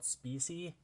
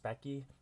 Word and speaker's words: Speccy: I used to call it Specy, but it's actually pronounced Speccy.